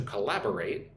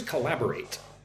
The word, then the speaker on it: collaborate: The manager asked us to collaborate more closely with the marketing department. What is collaborate? Collaborate. Look at the word collaborate. Four syllables. Put the emphasis on the second syllable. One, two. Lab. Collaborate.